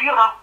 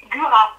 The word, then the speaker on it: Gurat: Alors, ça s'est passé en Charente, à côté de Gurat. À côté de? Gurat. Ça s'écrit comment, Gurat?